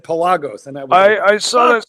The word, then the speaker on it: Pelagos: Is it Is it Pelos or is it Pelagos? Uh, I I I always pronounced it Pelos. Well, here's the funny thing. Me, too. Until I saw a tutor commercial for it in which they said Pelagos, and I I saw